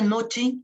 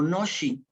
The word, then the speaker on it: noche: Noche es una transcripción más o menos fonética medio libre, no puse acentos ni consideré muchas cosas, que se pronuncia nochi o noshi, ¿no?